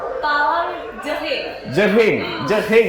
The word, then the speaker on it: Talang Jering: Gimana sih bacanya, Dela? Talang Jering ya, pakai G dan H.